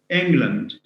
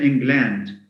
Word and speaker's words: England: policeman milkman postman um land for instance we say land with an air sound but when it's added to words like like england we don't say england or scotland who says scotland ireland england so we have we